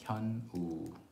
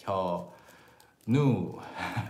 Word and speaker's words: Hyunwoo: Hyunwoo, Hyunwoo. My son thinks, I mean, he knows my name fully well, but sometimes he pronounces it like Hyo-nu because that's how it's pronounced.